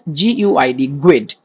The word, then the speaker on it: GUID: There is something known as GUID. It is globally unique identifier, okay. Now when you write Guid.NewGuid, we pronounce it as Guid, globally unique identifier.